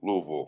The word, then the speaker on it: Louisville: Louisville. Two syllables. Louisville. It sounds it's spelled Ville though. Anyway, VUL. VUL. Louisville. LOOHVUL. I get it.